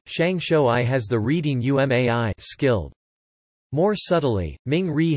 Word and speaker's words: 上手い: In addition, shangshou I has the reading umai, skilled.